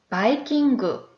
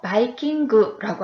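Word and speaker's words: バイキング: 그래서 뷔페는 바이킹이라는 단어를 써서 바이킹을 일본어 발음으로 해보니 바이킹그 이렇게 이야기를 합니다.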